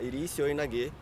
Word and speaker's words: iri seoi nage: É um seoi de esquerda, mas no judô a gente pronuncia iri seoi nage, que é o seoi de esquerda segurando na lapela.